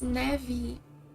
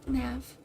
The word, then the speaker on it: neve: But in Portuguese we pronounce neve, instead of neve.